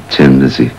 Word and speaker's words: Thin Lizzy: meaning you know that the pronunciation would be Tim Lizzy and the way you spelled it would be Thin Lizzy and we changed the